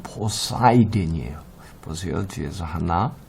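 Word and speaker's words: Poseidon: 포세이돈 하는데 영어로 발음은 포사이든이에요.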